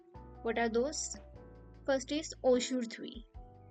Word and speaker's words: aujourd'hui: First is aujourd'hui. How do we pronounce it?